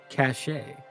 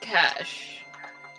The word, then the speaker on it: cache: could lead to another cachet you dumbass it's pronounced cash depends on if there's an accent mark over the e or not cache my statement stands